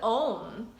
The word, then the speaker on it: Om: as so simply with own which is actually three syllables ah so um which is said to